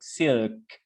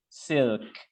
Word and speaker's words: SILC: into the acronym, and it will sound something like silk. SILC. Silk.